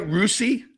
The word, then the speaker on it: Russi: Russi? Yeah, it's Russi.